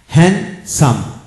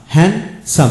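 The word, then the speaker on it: handsome: join যেমন হ্যাজ হ্যাজ হ্যান্ডসাম হ্যান্ডসাম এখানে ডি উচ্চারিত হলো না যেমন ওয়েন্স ডে ওয়েন্স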